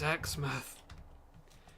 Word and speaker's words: Exmouth: It's Exmouth. I think even some people from like London, who pronounce Teignmouth as Tynemouth or Teenmouth.